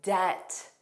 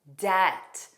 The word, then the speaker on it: debt: There are other words with a silent B that don't contain the spelling MB, like debt, debt. Notice that B does not exist in pronunciation.